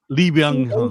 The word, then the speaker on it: Lee Byung-hun: And you can pronounce his name, Alan, please. Lee Byung-hun.